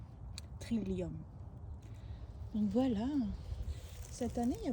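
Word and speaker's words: trillium: Ça s'écrit t r i l e la teint c'est lium trilium.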